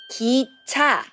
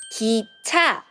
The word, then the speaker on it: 기차: The first one is 기차. G, E. Put it together, it became 기. 기. 기차.